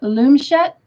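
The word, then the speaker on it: loomchet: called a loom and i may pronounce this incorrectly it's called a loom shut l-o-o-m-c-h-e-t t slip stitch crochet is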